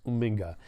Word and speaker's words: Uminga: It's Chris Uminga. When you're on the show, I promise to pronounce it correctly.